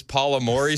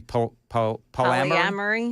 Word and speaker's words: polyamory: He said, have you been following this Paula Maury story? And I said, no. Who's Paula Maury? I was mispronouncing polyamory.